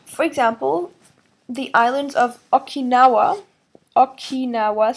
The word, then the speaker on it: Okinawa: is aging so for example the islands of Okinawa Okinawa spelled OK i n a w just like you pronounce it Okinawa it's right off Japan's South Coast while they